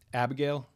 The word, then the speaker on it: Abigail: Abigail. The I vowel in Abigail, most people do not fully pronounce it.